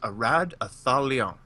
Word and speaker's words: Eratathalion: I think, according to elf pronunciation websites, it's pronounced Eratathalion.